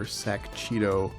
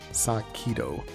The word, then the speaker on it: Sakito: Last time this girl was on screen, I called her Sakchito, but it was mentioned in the thread that the actual pronunciation is Sakito, which I would have never got that in a million years, so thanks Ostriker for pointing that out.